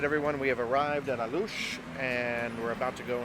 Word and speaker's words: Alux: done, and it's called A-Loosh, but it's spelled A-L-U-X. But we're pronouncing it A-Loosh because that's how the Mayans pronounced it, and the Mayans actually, the word A-Loosh means, do you remember?